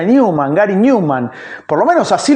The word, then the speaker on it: Numan: No queda Neuman, sino como lo conocemos, Newman. Y además, ¿por qué? Porque era ganchero Newman y juega con eso de nuevo hombre. Porque se pronuncia pronuncia Newman.